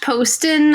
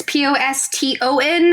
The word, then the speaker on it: Poston: All right, so you can follow me at Poston on Twitter. It's Poston. I know it looks like it should be like pronounced Poston, but it's not.